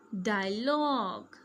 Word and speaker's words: dialogue: Okay, GUE sounds like G. Tongue. Say with me, tongue. League, league. Colleague, colleague. Dialogue, dialogue.